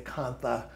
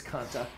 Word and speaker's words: Kantha: And it's pronounced Kanta. Yeah, I believe so too. A lot of people will say Kantha, but I think it's Kanta.